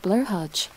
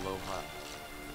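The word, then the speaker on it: Blåhaj: It's pronounced more like low high, but in the TBS clap, offense, clap. I type the right vowel. It's pronounced a little different though, like it's not a blahash blast, it's a blow hot.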